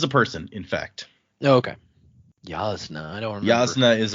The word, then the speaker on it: Jasna: I first read it that is not in fact correct so but what would it is it's yasna or yasna but what is it